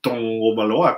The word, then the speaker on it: Tagovailoa: donde pudiera, pudiera eh debutar el señor Tua Tagovailoa o Tungovailoa, como le dicen o que dicen que se pronuncia realmente, eh todo de blanco como el uniforme retro o el throwback, ¿no?